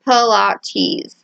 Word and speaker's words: Pilates: me than say pilates which because i was raised southern baptist i mispronounced for a really long time until my church unchurched heath and friends told me it had nothing to do with point pontius pilate it's pronounced pola tease she said with clear irritation